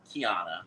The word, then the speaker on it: Khianna: It's supposed to rhyme with Rihanna. It rhymes with Priyanka.